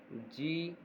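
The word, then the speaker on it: Z: इसका pronunciation जेड नहीं होगा, इसका प्रोनाउंसिएशन होता है जी.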